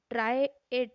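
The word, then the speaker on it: trahit: ट्राइएट है, ट्राइएट है ना, एच साइलेंट है इसके अंदर।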